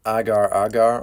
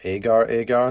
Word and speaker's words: agar: Next up, we're going to use our Agar or Agar, depending on how you pronounce it.